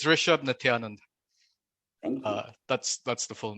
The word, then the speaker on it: Rishab Nithyanand: You actually did a pretty good job. It's Rishab Nityanand.